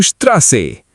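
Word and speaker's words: Straße: ST is equal to SHT. Strasse is equal to Strasse.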